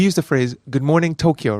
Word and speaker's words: Tokyo: introduction of Ohio Tokyo now my pronunciation of Tokyo tends to be a little towards a native English speaker Tokyo and it's very amusing for Japanese people to hear this because it's quite different than the actual pronunciation which again has holding in the both syllables of the O so it's not Tokyo it is yeah if you can hear the difference hold it and can